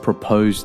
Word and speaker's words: propose: Jones asked miss Johnson to marry him what's another word to describe this action propose where's the stress in propose the stress is on the second Oh propose the noun of proposed is proposal after mr.